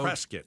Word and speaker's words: Prescott: Uh, is it Prescott or Prescuit? Prescuit like biscuit.